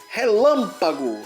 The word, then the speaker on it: relâmpago: A palavra relâmpago. Sílaba forte lã é a antepenúltima, ainda tem a última e a penúltima aqui, então é a antepenúltima.